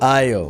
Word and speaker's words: aisle: For each letter, the example word is terrible, usually because it begins with the right letter, but the letter is silent. For example, A is for aisle. aisle K is for Mhm.